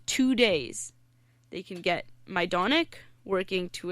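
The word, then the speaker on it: Majdanek: was I'm going to my donek which is another concentration camp it's spelled Maj da and ek so it's like magic but it's called my donek mm-hmm and what was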